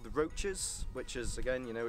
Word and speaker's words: Roaches: This area is called the Roaches, which is, again, you know, it's a very strange name. Not like cockroaches, but kind of roaches. It is spelled the same.